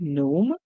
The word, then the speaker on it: gnome: Same in the word gnome, the G is silent, and we hear the N make the sound ni.